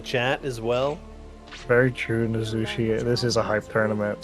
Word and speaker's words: Nozushi: Nozushi, that's how you say it. I've been saying it wrong.